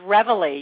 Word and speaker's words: Reveille: Did I pronounce that correctly? It's Reveille.